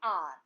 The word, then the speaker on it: hour: For example, an hour, an honest boy, an hour. The word is beginning with H, which is a consonant, but here the sound of H is silent.